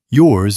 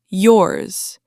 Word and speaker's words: yours: If you drop the Z ending, especially in fast speech, yours might sound like your. Hers might sound like her. Theirs might sound like there.